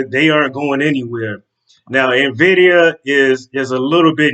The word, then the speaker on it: Nvidia: it I'm sorry Invidia I said it wrong not not Nidia Nvidia here I go again